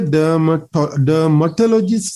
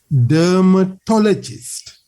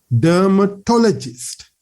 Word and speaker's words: dermatologist: We hear dermatologist, something like that. I have heard many a time OET students saying this one, dermatologist, something like that. No, that is not the correct pronunciation. The correct pronunciation is dermatologist. Here me to kala tamai stress when we have to say dermatologist. So that what with me, dermatologist. This toe part has to be stressed.